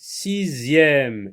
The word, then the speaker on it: sixième: Sixième. X ici se prononce Z.